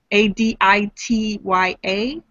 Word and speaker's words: Aditya: And she wanted, she said she would like the name of her hybrid son to be Aditya, A-D-I-T-Y-A. Aditya. Aditya. And the daughter. Adisha. What's that? It could be pronounced Adisha.